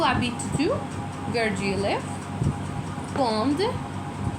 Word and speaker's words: quand: Quand. It is not quand. q u a n d, quand.